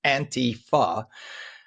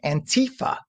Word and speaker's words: Antifa: It's Antifa because it's anti-fascist. So it's pronounced Antifa. Just a little thing on my part. Every time I hear people say Antifa, like it's a European word.